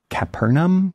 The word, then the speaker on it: Capernaum: Um, there's this ancient synagogue, I think it's pronounced Capernaum, that has survived in pretty good shape.